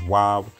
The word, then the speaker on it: Waw: The Latin V is not V, it's W. Praise the Father. These means of proof, amongst other means of proof, prove that this character is Wav. But if somebody pronounces it Vav, it doesn't really matter as long as you understand what the character is and what it means.